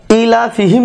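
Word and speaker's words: إيلافهم: তারপরে ইলাফিহিম রিহলাতাশ, ইলাফিহিম এখানে শুরুতে রয়েছে হামজা আর এখানে রয়েছে দীর্ঘি, তাহলে উচ্চারণটা ইলা। আর লায়ের উপর এই লয়ের উপর তারপর জবর একটা টান দেওয়া রয়েছে, অর্থাৎ আকার দেওয়া রয়েছে। আর এই কারণে যে এই যে লাম হরফ আরবি ভাষার, তার উপরে একটা খাড়া জবর দেওয়া রয়েছে, এটা একটু ইলাফিহিম ইলাফিহিম ফিহিম।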